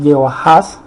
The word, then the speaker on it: Jehoahaz: Esa es la manera como se pronuncia Joacás en el hebreo, se pronuncia así, Jehoahaz.